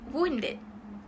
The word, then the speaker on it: wounded: Wounded is pronounced with your mouth forming a somewhat a duck face, and then soft air will be released when pronouncing it. This is for wound. And then the next part of the word is dead. And then dead is just dead.